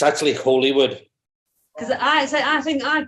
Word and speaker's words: Holywood: Holywood, not Hollywood. Holywood. There's one L.